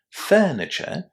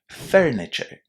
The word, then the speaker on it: furniture: Now in here I just wanted to mention that because my accent is British I don't pronounce the letter R.